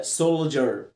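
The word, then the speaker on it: soldier: كلمه شاذه في نطقها سول سول، لعند ال هتنطق صح سول سول، والاي مع الدي بنطقها ج سولجر، والاي ار بنطقها اير. هل دي قاعده؟ لا مش قاعده، كلمه شاذه بظروفها هنطقها كده سولجر سولجر.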